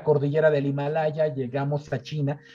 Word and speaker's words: qi: famoso y siempre mencionado chi, se escribe QI, pero se pronuncia chi, y este chi está integrado por dos grandes fuerzas opuestas, el yin y el yang, ¿sí?